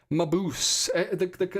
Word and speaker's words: Mabuse: Mabuse. Carrie Witt says it's Mabuse. Mabuse.